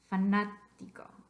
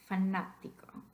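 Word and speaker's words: fanático: For that reason, all words that have their voice stress on the third to the last syllable will need an accent mark. So you would need an accent mark over the second A.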